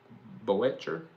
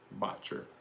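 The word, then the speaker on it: Boettcher: Boetcher B O E T T C H E R Boetcher Boetcher you pronounce it.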